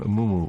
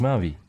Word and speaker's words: Maui: to say my name Mumu what what is it is it muu it's not Mumu no my name is Maui Open Your Ears same